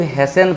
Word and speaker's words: hasten: उसी तरह से HASTEN, इसको हम लोग हेसन पढ़ते हैं, हेस्टेन नहीं पढ़ेंगे।